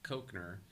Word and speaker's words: Cochneuer: My name's always been difficult to pronounce for people, even though it doesn't sound hard to pronounce, Cochneuer. But Yeah. if you look at the spelling, Cochneuer, it's a very odd combination of letters.